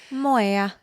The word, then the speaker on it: moai: The Okinawa tradition of forming a MOAI, I'm not sure how to pronounce that. Moya. Yeah, thank you.